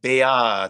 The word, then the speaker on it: beate: And it's not, even though there's a T there, we're not going to pronounce like a very t sound. It's almost a D, almost. But beate.